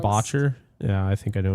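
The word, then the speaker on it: Boettcher: But I think it's pronounced Botcher.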